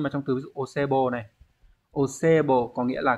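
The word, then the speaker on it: お歳暮: Còn âm ghép đọc là bo, cũng đọc là bo nhưng mà trong từ ví dụ osebo này.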